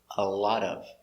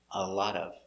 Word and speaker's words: a lot of: pronunciation a lot of put the words together with the t sounding d a lot of a lot of examples he gave him